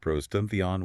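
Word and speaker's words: πρὸς τὸν θεόν: By fronting theos he connects the divine attribute directly to the preceding ream in clause 2 pros tuntheon pronounced pros tunion with god.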